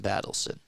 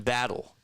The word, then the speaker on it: Battle: he's had himself a very good game Jameson battson or battle Jameson battle almost said battle sin it's not how you pronounce it that looks like the Kawai shot